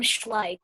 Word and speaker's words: Schleich: yes my item was schleck horses some people pronounce them schleich but i just pronounced them schleck what um for playing